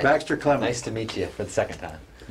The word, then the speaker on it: Baxter Clement: And his name is Baxter Clement. Right? Did I say it right? I think you got it right. Baxter Clement.